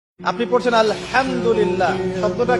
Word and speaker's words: আলহামদুলিল্লাহ: আপনি পড়ছেন আলহামদুলিল্লাহ শব্দটা কি আলহামদুলিল্লাহ এই হা এর মাখরাজ কোথায় কন্ঠনালীর মাঝখান থেকে এখান থেকে আপনি উচ্চারণ